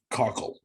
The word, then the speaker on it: Kochel: It's Kochel. It's not Kochel or Kochel. It's Kochel. All right, let's get back. Let's get to the interview. Kochel.